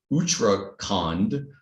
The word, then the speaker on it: Uttarakhand: I'm probably going to pronounce it wrong, Uttarakhand. Did I pronounce that correctly, Dr. Varsha? Maybe close? Yes, sir. Yes, sir. It's correct. Okay.